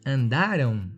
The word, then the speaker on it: andaram: Tem uma mudança aí de sílaba tônica, né? E além da mudança de sílaba tônica, também o futuro se escreve com AO e o pretérito com AM no final.